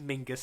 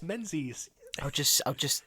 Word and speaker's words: Menzies: Tobias No, it's Menzies. not Tobias Mingus, it's Tobias Menzies.